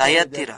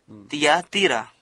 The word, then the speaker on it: Thyatira: Americans and the British guys, Orang Amerika dan orang Inggris Thyatira. mengucapkan seperti ini, but actually Thyatira. that's Thea, Tapi pengucapan sebenarnya, Tiatira. Thyatira.